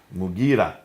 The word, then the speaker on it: Mughira: Basra, Amir ibn Abdul Quyas, sorry for the pronunciation. Qais. In Syria, Al-Muqarid ibn Shuba. Mughira ibn Shuba.